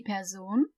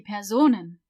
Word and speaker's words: Person: Die Person. Die Personen. See how I'm stressing the Sohn part? Die Person. Die Personen. It's not person. It's not like in English.